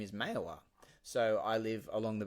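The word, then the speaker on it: Mayawah: yagara language uh it its rightful name is mayowa so I live along the banks of Mela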